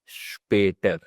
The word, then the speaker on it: später: So it's Entschuldigung here, and this is bis später. So it's starting with the sh sound.